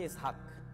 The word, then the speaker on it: ইসহাক: যে বিজ্ঞানী নিউটন তো বিজ্ঞানী নিউটনের নাম কিন্তু ইসহাক কিন্তু উচ্চারণ করা হয় ইংরেজিতে কি আইজ্যাক কিন্তু আসলে কি ইসহাক ইসহাকের ইংরেজি ভার্সন হচ্ছে আইজ্যাক তার বাবার নাম